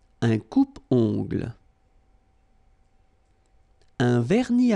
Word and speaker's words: vernis: Final S here, not pronounced.